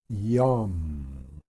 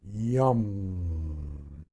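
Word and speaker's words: yam: Mantra um y a m y a m yum and I said before when you do these things the m is kind of pronounced Ming or Ming so it's Young for the heart yum green rotating flower in the center here or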